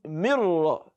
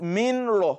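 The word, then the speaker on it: مِن رَّبِّكَ: How do you pronounce it? Mirra, not minra or minra. No, because ra and lam, they do not have al-gunna as one of their properties ordinarily. They are not letters of gunna.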